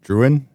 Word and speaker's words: Druyan: I actually don't know how to say her last name. Druyan. Druyan, I think. Druyan? Yeah. Druyan. Sounds right.